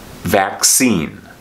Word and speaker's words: vaccine: this c is pronounced like a k and this c is pronounced like an s vaccine the word vaccine is